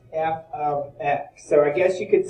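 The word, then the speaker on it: f(x): unique it's actually pronounced f of x so that green symbol here is pronounced f of x so i guess you could say that the parentheses is the letter of or the word of so it's f of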